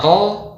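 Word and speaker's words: ر: Harusnya dibaca ro, dibaca ro. Nah, ini tidak benar ya. Huruf ra Arab hanya dibaca dengan sekali atau dua kali getaran. Ro. Lidah kita seperti dilempar ya dari belakang ke depan ya.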